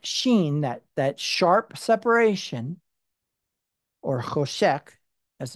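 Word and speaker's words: חושך: It's that idea of the het sheen, that sharp separation, or choshek, as it's pronounced.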